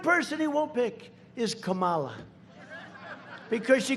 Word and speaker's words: Kamala: tried to interrupt him no my name was kamala like comma i remember that like a comma right h1n1 that's right